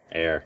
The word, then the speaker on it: heir: Air. This again. Air. You don't pronounce the Yeah. H. And LJ. The H is wanna- silent.